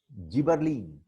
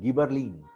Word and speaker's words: gibberellin: Now come to second one called as gibberellin or you may call it gibberellin. Pronunciation में थोड़ा फर्क पड़ता है. Gibberellin, gibberellin, both are same.